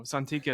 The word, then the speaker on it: Santicchia: Santicchia is right? Yeah, that's a great pronunciation.